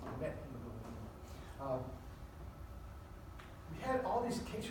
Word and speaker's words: methemoglobinemia: Now, methemoglobinemia, I'm going to pronounce it correctly. My wife laughs at me when I say methemoglobinemia. It's methemoglobinemia.